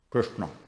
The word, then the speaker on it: Krishna: Krishna is actually, the Orthodox pronunciation is that the R, the S, and the A are cerebrals, and the N are cerebrals, which you should pronounce with the tongue on the top of your mouth, like this.